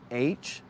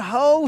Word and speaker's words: Hough: Julianne Julianne Ho. Huff. Well, it depends on how you pronounce the name, but yeah. It's supposed to be Huff, but I'm like, that is not the spelling of Julianne Huff.